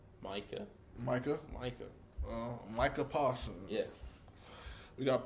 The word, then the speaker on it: Micah: How does he pronounce his name? Micah or Makai? Micah.